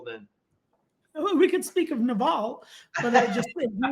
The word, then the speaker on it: Naval: Oh, you're talking about Naval. Naval. Yeah. Well, it's spelled navel. Well, That's how I read it. I've heard him say his name, so I'm pretty sure it's Naval.